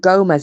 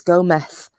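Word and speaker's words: Gómez: and she was saying it's not gomez it's go meth and i genuinely thought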